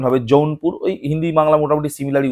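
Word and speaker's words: জৌনপুর: আর বাংলায় এইটা উচ্চারণ হবে যৌনপুর।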